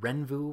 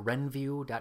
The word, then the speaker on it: Renvu: to show you a webpage called Ren vu or Ren view comm however you want to pronounce it this is a mail-order